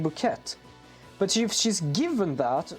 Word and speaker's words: bouquet: Also, for information, bouquet is pronounced bouquet.